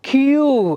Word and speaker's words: queue: Similarly, now you see QUEUE, ಕ್ಯೂ. ಸೊ ಒಂದು ಕ್ಯೂಗೋಸ್ಕರ ಅಷ್ಟು ನೋಡಿ, ಅಷ್ಟು ಸೈಲೆಂಟ್ ಲೆಟರ್ಸ್.